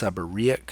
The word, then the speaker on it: seborrheic: cutaneous is skin neoplasm is new growth it's pronounced seborrheic so sub or e^x seborrheic keratosis many different faces it can present many